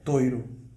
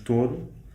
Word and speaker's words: touro: Words like tableware, blond/laurel, bull, etc… And you in Coimbra… We speak with the OI diphthong: toiro, loiça, loiro,... Ok. And in Lisbon we use more OU, we say touro.